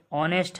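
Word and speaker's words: honest: ये आपका जज है तो इसमें आपका ये डी जो है ये साइलेंट वर्ड है। आपका ये ऑनेस्ट है तो इसमें आपका एच का उच्चारण नहीं हो रहा है तो ये आपका एच जो है साइलेंट वर्ड है।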